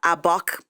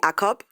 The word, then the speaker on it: Akob: Okay, so in Cameroon, it would be Akob. Okay. In South Africa, Akob.